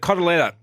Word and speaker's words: cotoletta: Ben, the cotoletta is an Italian word for what? We spoke about this yet. I'll pronounce it the Italian way.